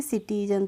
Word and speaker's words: citizen: लेकिन अब हमें रूल पता है, तो हमें मालूम है सी के बाद अगर आई आता है तो हम वहाँ पे सी का प्रोनाउंसिएशन क्या करते हैं, स करते हैं। तो इसीलिए हम इसको पढ़ेंगे सिटीजन।